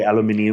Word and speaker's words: aluminium: Are they like aluminum? So the drivers are all aluminum, or as the British like to say, aluminium. Aluminium. Right? Which is probably the correct way to say it.